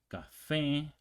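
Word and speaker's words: café: stress is lamp mus Cafe this was ends with an E so you would think the um stress is before that one before the last syllable but it's not because we have that accent okay so Telo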